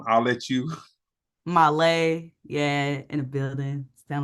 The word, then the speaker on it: Mahlleh: Mahlleh, yeah, in the building.